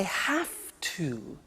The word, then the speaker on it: have to: I have to. Notice I don't say V, I say F.